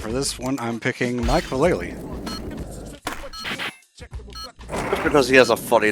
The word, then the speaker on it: Vallely: this one I'm picking Mike Vallely because he has a funny last name I used to say his name is Mike Valley because I was missing the second l or I guess the